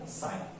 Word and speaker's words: sin: However, we write it as only SI and we pronounce sine.